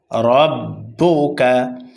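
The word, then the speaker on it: رَبُّكَ: না তাড়াতাড়ি পড়তে হবে রব্বুকা রব্বুকা র মোটা হবে র এর উপরে জবর অথবা পেশ আসলে রকে পুর করে অর্থাৎ মোটা করে পড়তে হয় র মোটা হবে আর বায়ের উপরে হরকত পেশ কাফের উপরে হরকত পেশ তাড়াতাড়ি উচ্চারণ হবে রববুকা আলামতার কাইফাফা আলা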